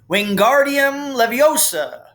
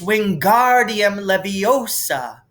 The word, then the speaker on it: Wingardium Leviosa: having much more luck wingardium leviosa he shouted waving his long arms like a windmill you're saying it wrong harry heard hermione snap it's wingardium leviosa make the gar nice and long you do it then